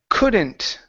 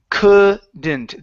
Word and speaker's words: couldn't: Uh, next up is couldn't. Uh, right here instead of could. Okay. It's couldn't. The L is silent.